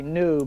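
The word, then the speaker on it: Nue: i'm new my name my name is actually new but it's spelled uh n u n u e i'm also new to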